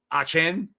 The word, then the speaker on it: Etienne: Etienne because Travis uh Etienne uh, is gone. I think that's how you pronounce his name now. It's not Etienne. It's like you got to toss a lot of Creole up on that Etienne.